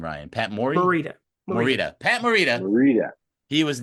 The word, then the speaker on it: Morita: reason uh Pat was what how do you pronounce his last name Ryan Pat Mor Morita Morita Pat Morita Morita he was nominated for an